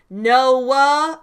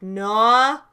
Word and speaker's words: Noah: on if you think Noah as a name is one syllable or two. Some people say it like Noah, and some people say it like Noah. I don't know. I think that really depends. I see it as 2 syllables, which makes it kind